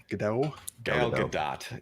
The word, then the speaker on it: Gal Gadot: Gal Gadot is what I've been told is the proper pronunciation.